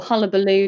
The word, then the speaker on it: Hubelo: So the platform that we hunted high and low for is called Hubelo, or Hullabaloo, depending on which way you pronounce it.